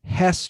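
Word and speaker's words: Hess: down here what's a What's it how's it pronounced the truck the H Truck Hest trucks yeah it's like remember the old H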